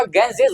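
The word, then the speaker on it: Ganges: अब यहां पर बहुत सारे लोग इसको गलत पढ़ता है। कहता है गंगेज पढ़ लेता है। बल्कि इसका जो प्रोनाउंसिएशन हुआ गेंजेस होता है।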